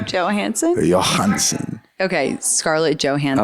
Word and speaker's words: Johansson: Johansson. It's Johansson.